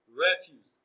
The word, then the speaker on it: refuse: typist is option A, refuse. Refuse is also stressed on the first syllable as is typist.